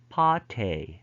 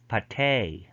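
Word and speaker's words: pâté: French borrowing tend to have end stress in American English but front stress in British English. So in British English, front stress. So they would pronounce this as pate, ballet. But in American English, they have N stress, so therefore they would pronounce this pate, ballet.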